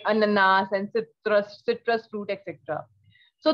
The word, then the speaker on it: ananas: So that is the same thing, but in French the pronunciation and the spelling is different and it is ananas.